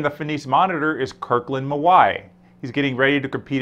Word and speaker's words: Mawae: Well, first off the bat, I've got to ask you about this last name, Mawae. It's spelled M-A-W-A-E, but pronounced Mawae. What's the origin of that name? It's Hawaiian, actually.